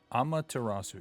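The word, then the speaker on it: Amaterasu: that you can get amatarasu amatarasu yes that's how you say it it is considered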